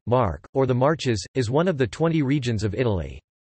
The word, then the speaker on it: Marche: Marche, Italian pronunciation, Mark, or the Marches, is one of the 20 regions of Italy.